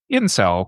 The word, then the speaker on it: incel: that later got shortened down into the much more pronouncable incel without the V because everybody should pause